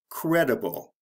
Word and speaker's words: credible: When we change it into an adjective, we change the pronunciation and the spelling. So instead of creed, it becomes credible. So we drop one E and change the pronunciation from E to E, and then add the I-B-L-E.